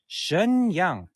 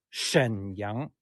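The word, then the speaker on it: 沈阳: leoning province is a Shenyang as your westerners pronounce Shenyang but we Chinese people in the correct time we say Shen Young Shen is in the third tone instead of a Shen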